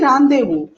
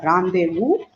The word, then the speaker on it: rendezvous: You know, they say rendezvous, right? But that is actually rendezvous, and many think that this rendezvous is an English word, and which means an appointment, or which no, which means a meeting. So can we have a rendezvous? People have asked me. So I used to tell them, no, it is rendezvous. It has to be pronounced this way, and it is a French word.